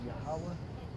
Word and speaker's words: Yahweh: 3 syllables, Yahweh.